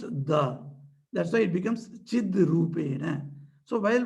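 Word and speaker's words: चिद्रूपेण: That's why it becomes Chid Rupena. So while pronunciation, we should not say Chit Rupena.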